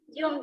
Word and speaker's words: June: June, sir. June. Dan juga bukan sir. Sir. Sir. Ini bacanya sir.